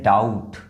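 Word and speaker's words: doubt: ये है डाउट। देखिए डाउट डाउट। बी को प्रोनाउंस ही नहीं किया जा रहा है।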